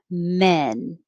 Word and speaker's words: men: back ah man 28 the vowel is e like head so your jaw is more closed men 27 man 28 men